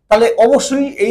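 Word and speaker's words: へ: বোঝায় ওই জায়গার পরে এই পার্টিকেলটা ব্যবহার করব। এটা যদিও হিরাগানাতে হে বলে কিন্তু যখন পার্টিকেল যেহেতু পার্টিকেল হিসেবে বসছে এজন্য এটার উচ্চারণ হবে এ পার্টিকেল।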